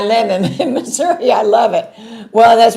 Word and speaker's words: Missouri: And everybody there was was from they always said misery. They never said Missouri or, you know, they always said misery.